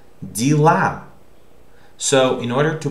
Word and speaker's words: дела: This A is stressed. So this Е is not Е, but it's E. Okay, so O, unstressed O, becomes A. We are talking about pronunciation, okay? While unstressed Ye becomes E, or similar to E. So this is pronounced как дела.